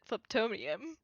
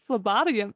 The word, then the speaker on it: phlebotomy: you out of character is that how you pronounce it because i've always pronounced it phlebtomium i'm pretty sure it's phlebotomy like phlebotomy because i don't think because i don't think there's a vowel between the b there is hmm god i